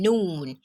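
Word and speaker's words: نون: this is just story the simpler explanation is just that this is um similar to the pronunciation of n in english as in noon noon so there is no one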